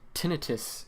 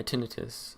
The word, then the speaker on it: tinnitus: I think, yeah, so on submit, oh, I have a freaking tinnitus in my right ear right now.